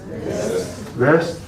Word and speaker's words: West: presidant North is North West is West W vest spelled exactly the same except that W is pronounced like a V vest and go on and